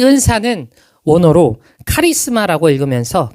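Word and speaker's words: χάρισμα: 이 은사는 원어로 카리스마라고 읽으면서 그 뜻은 은혜의 선물, 하나님의 선물을 뜻합니다.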